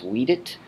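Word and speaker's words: vīdit: We did the lengthened stem vowel, agit becomes agit, widit becomes weedit, facit becomes fakit, emit becomes aimit.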